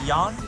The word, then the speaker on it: Jan: John is pronounced as Jan.